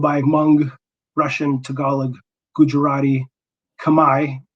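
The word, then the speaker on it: Khmer: among russian tagalog gujarati kamai which is the correct pronunciation for that by the way kamae or cambodian language german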